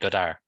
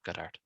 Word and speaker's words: Godard: without Godard probably not oh sorry I should be saying gar not Gart we don't pronounce the d which doesn't make sense to me but sure why put it there if you don't pronounce it um I I do